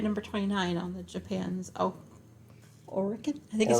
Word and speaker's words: Oricon: There was an extended edition that was debuted at number 29 on the Japan's Oricon, I think is how you say that. Oricon, yeah.